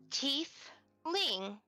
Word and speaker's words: tiefling: You are a tiefling. You see him try to pronounce it. Tiefling? Yeah. thing. Yeah, and she'll like pronounce it slowly for Quinn to understand. It's teeth ling.